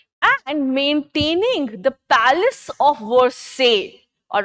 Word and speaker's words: Versailles: Okay, Versailles is the pronunciation, fine.